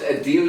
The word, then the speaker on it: Adele: Like, it's pronounced Adele, you know.